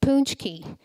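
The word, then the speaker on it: pączki: bonnie hi bj question do you know what a punch key is pronounced punch key no did you google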